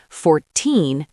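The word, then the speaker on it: fourteen: 14. The stress is on the end, 14.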